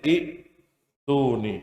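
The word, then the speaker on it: ائتوني: Jadi i'tuni. Itulah yang membuat jadi tulisannya adalah i'tuni. Gitu ya. Paham? Nah, tapi kalau kita mulai dari kata i'tuni, maka bacanya adalah apa? Ituni.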